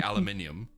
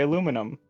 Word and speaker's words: aluminium: that's our word yeah the Americans are the ones who say Al Al aluminum no we say alum we say alum British people English people say aluminium yeah that's what I said alumin yeah that that's what we said Americans say that you guys say aluminum I don't know why